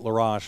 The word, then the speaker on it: Laroche: but now they put laroche in that's how you say it that's how laroche that's how our counterparts from our teasers are saying it so that's what i'll go with so the one ball